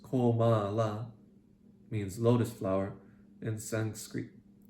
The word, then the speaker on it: Kamala: Kamala, pronounced Komala, means lotus flower in Sanskrit.